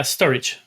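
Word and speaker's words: Storj: you you build things store J right yeah storage is that's how it's pronounced yes that's the first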